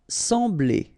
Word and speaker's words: sembler: Sembler. Remember, we've got this EM here, nasal, en, sembler, sembler. Envoyer quelque chose à quelqu'un.